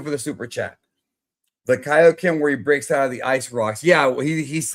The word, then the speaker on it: Kaio-Ken: Pronounces Kaio-Ken correctly. A decade, bro. It was only a couple years. And also, you forget in the ocean dub of Dragon Ball Z the anime, they called it KOen.